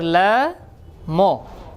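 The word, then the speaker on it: لام: মুখটা পাতলা হবে। যেহেতু পাতলা হরফ। যেহেতু পাতলা হরফ এজন্য কি হবে? মুখটা পাশ থাকবে। উচ্চারণ আমি যেভাবে করব ঠিক সেভাবে করার চেষ্টা করেন। লাম লাম কেমন যেন ল এর মধ্যে জফলা লাগাইলে ল জফলা দিলে যেভাবে উচ্চারণ হয় ঠিক সেরকম উচ্চারণ হবে।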